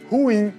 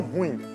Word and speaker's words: ruim: A palavra, ao contrário do que muita gente pensa, não é um monossílabo tônico.